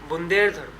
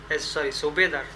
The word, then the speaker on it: सूबेदार: Okay, बुंदेधर, सुबेदार, नॉट बुदेधर, इट इज सुबेदार, sorry for the pronunciation, सुबेदार, sorry for again.